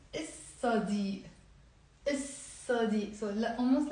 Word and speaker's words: الصديق: So if I'm gonna say il plus صديق, I'm not going to pronounce the lam. ما بنلفظ اللام. We don't pronounce it. So we will not say il صديق. We will say الصديق.